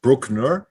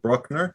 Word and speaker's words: Bruckner: actually pronouncing it the way it should be pronounced is brookner not bruckner so uh now that that's out of the